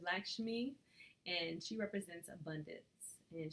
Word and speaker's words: Lakshmi: Now I can never say her name right, but it's Lakshmi, and she represents abundance.